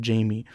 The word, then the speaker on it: Jaime: Or like even the name Jaime. Some people pronounce it Jaime. Some people pronounce it Jamie.